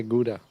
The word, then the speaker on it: Gouda: very popular in America we just said powder by the way but I know they okay get out get out the Americans say gouda yeah I've always done it it's good can't do it today as a child I learned from my parents the English can't make that sound yeah to me too